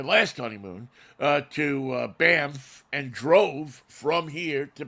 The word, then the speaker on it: Banff: drove from here to banford and down through sorry how did you pronounce that how did you pronounce the name of that town Banff there you go man yeah it's two F's my only rule about